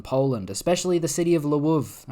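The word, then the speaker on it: Lviv: especially the city of leuv okay I'm going to say it properly I'm not going to say laow the way I said it before I sound like a surprised French person now blood awaits Ukrainian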